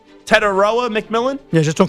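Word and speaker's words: Tetairoa McMillan: Tedoic McMillan. Did I add an extra syllable there? Tedoa McMillan.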